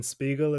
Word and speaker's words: Spiegel: what's the CEO, Evan Spiegel? Is that how you pronounce it? Spiegel.